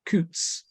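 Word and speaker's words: Coutts: the super wealthy um used to use Coots which if that's pronounced correct c-o-u-t-t-s um almost like the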